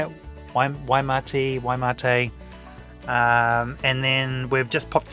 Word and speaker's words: Waimate: out at Waimate.